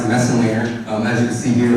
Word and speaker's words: Messenlehner: wesson later my name my last name is pronounced the messenglinger as you can see here